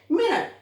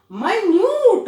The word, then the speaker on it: minute: इन the same way मिनट, 60 second, 60 seconds, मिनट पता है ना कितने मिनट्स हुए। एक आपका माइन्यूट, अब देखिए स्पेलिंग सेम है, MINUTE मिनट, MINUTE माइन्यूट, very very small.